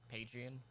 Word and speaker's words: Patreon: yeah god patreon is that is how you pronounce it patreon paging like this is a tryout for him